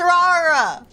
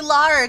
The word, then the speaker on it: Rara: no I'm not Sayan my name is Raa or you can also call me Lara cuz Rara is actually the weed pronunciation of Lara in Japanese that's how my name